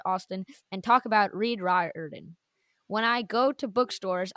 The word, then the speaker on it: Riordan: So yeah, I know we're trying to do our best to kind of fix that and say Riordan instead.